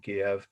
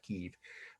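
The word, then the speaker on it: Kyiv: They befriended me on a train ride from Kiev. And yes, that's how the Ukrainians pronounce it when they speak English, not Kiev, but that is the way the media is saying it.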